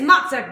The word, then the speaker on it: Mocek: It's Mocek, baby, like mozzarella cheese. Or Mocek, we are a little unsure on how the Czech native pronounces mozzarella.